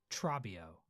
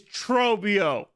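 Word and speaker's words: Trobbio: You can't say it like Trabio. No. We can't have that. What the heck, dude? It's Trobio. You don't say it like Trabio. It's Trobio. No.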